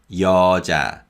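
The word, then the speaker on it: 여자: word means a woman the first syllable uses ian and the vowel ya and the second syllable uses the consonant and the vowel so it's cha cha so this is yo ja yo ja now one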